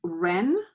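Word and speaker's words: wren: next line number two the word is Ren okay and we have four letters and Ren and remember one will be silent Ren w and then we have a a Ren okay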